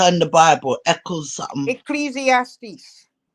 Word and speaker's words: Ecclesiastes: education they have credentials lady G how you pronounce that chapter in the Bible Echo something Ecclesiastes say it again Ecclesiastes Ecclesiastes that's right Ecclesiastes give her credit she didn't